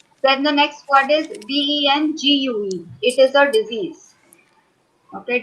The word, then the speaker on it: dengue: So correct pronunciation is dengue. Dengue. Yes. Both American as Okay. well as British. Yes. They both pronounce as dengue. Okay. Yes. We Indians we pronounce it very wrong. We say dengue. It Hmm. is not dengue.